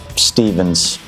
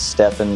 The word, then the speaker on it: Stevens: something I couldn't pass my name is Stevens pns everybody says stepin that's not how it's pronounced but I've always been